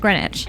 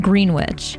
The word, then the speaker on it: Greenwich: This is pronounced Leicester Square, while this area is pronounced Greenwich, not Greenwich.